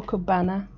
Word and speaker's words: Cabana: Is it Coastal Cabana or Coastal Cabana? Banana, because it's spelled Bana, B-A-N-A, like how you, oh no, how you say banana, Bana, Coastal Cabana.